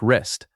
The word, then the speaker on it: wrist: It sounds like wrist.